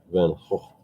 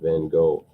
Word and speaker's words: Van Gogh: it's more of a so he would be vincent van gaal but it's certainly not like the g.o pronunciation vincent van gogh that most americans pronounce i said the uh